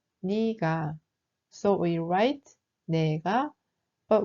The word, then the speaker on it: 네가: But it's pronounced more like 니가.